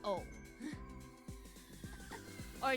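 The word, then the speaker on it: août: But because of how, you know, vowels work and the silent T, it's just O. Or it's just oo, rather.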